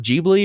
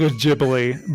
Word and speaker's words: Ghibli: was done by studio is it pronounced Gigli or Ghibli or yeah I think Ghibli but it could be yeah so with Studio studio